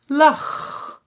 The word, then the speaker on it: lach: So, let's first look at when you pronounce it as a g. Chaos. Chaos. Or lach.